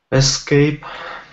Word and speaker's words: escape: Escape.